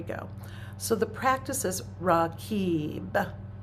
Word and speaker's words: Raqib: So the practice is Raqib. It's spelled well, it transliterates R-A-Q-I-B, but the Qib is the emphasis.